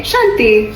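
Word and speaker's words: शांति: In Thai peace is Santi. Santi. Santi. We say shanti.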